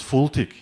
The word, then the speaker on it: FLTK: will use fltk what what is actually fltk ethel take care or pronounce fultic is as fast light